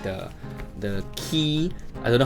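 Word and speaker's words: Qi: charging so if you got like the the key I don't know how you pronounce q i g key yeah if you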